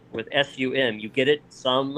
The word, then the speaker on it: Xumm: s-u-m you get it some as in money oh okay that's kind